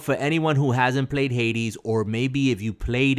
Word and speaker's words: Hades: I mean, how do you spell that? H-A-I-T? Hades is Hades.